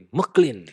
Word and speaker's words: MacLean: Bacanya MacLean kan? MacLean.